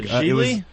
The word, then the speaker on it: Gigli: It's called Geely. How do you spell that?